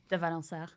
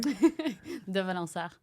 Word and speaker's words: De Valensart: De Valensart. Say it again. I'm sorry. De Valensart. I can't even pronounce that.